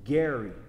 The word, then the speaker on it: ger: H1616 is Gary, which is very it's spelled G-E-R, Gary.